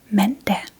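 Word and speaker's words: mandag: First we have Monday men and men is named after the moon. Moon day men. Yeah. And it is spelled remember to get a piece of paper and a pencil and we'll write together.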